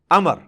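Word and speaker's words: عمرو: लफ्ज ही गलत है लफ्ज उमरू तो कोई लफ्ज ही नहीं है लफ अमर लिखा होता है उमरू लेकिन उसका मतलब वाओ जो है व साइलेंट होता है और वाओ का मतलब यह है कि आपने इसे पेश की बजाय जबर से पढ़ना है उमर की बजाय पढ़ना है अमर तो हजरत अमर बिन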